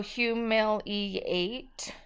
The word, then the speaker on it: humiliate: So humiliate. So that second I makes a long E sound, which is kind of a rule breaker.